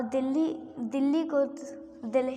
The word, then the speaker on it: Delhi: और दिल्ली को दिल्ली बोलते हैं और पर दिल्ली बोलते हैं, पर इसे दिल्ही लिखा जाता है। इसकी स्पेलिंग है DELHI दिल्ही।